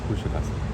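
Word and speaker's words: Kuşadası: Kushidasa.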